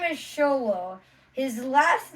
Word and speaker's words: Xolo: the first name is x-o-l-o ex solo and the last name is merid duena Mara dwayna but he says it's show though yeah people call him sholo yeah so now what